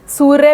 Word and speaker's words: सूर्य: बाद हो सकता है जैसे सूर्य सूर्य में य पे र लगा है लेकिन उच्चारण उसका उ की मात्रा के बाद होता है आशीर्वाद में व पे